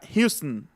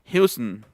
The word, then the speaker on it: Houston: No es Houston, sino Houston. Houston. Welcome to Houston, Texas. Así sonaría. Por la ON. Todas las ON van con schwa. Houston.